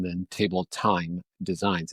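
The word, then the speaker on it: Thyme: better name than Table Time Designs. And time is spelled T-H-Y-M-E.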